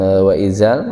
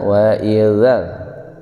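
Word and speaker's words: وإذا: Wa idzal, jadi bukan wa izal, wa idzal.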